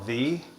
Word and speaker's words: tHe: You could pronounce it two ways, but I call it tHe. Some people say the, and I just thought